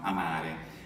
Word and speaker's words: amare: E poi abbiamo amare, quindi esattamente come l'italiano, amare. E poi un altro, diciamo spesso nella pronuncia scolastica, iter.